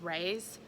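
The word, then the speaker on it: Rhys: is by I think he pronounces Ray's like rays of sunshine Ray's Brown and this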